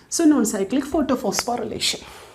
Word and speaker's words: phosphorylation: known side click photo now look at the spelling photo phospho Ry relation I have written but actually when we pronounce no we will pronounce it as relation only okay phosphorylation so now we are